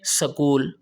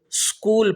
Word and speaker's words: اسکول: سے ادا نہیں کرتے۔ پنجاب والے کہتے ہیں سکول، کیا کہتے ہیں؟